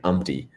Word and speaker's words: Umti: But like you were saying, like umpty, and like in my head whenever I read it, it's always umti every single time. It is okay, umti.